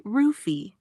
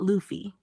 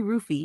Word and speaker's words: Luffy: So yeah, it's basically ruffy, not Luffy. Japanese doesn't naturally use an L sound. So foreign L becomes R. So what sounds like Luffy to us is actually rufi in Japanese phonetics.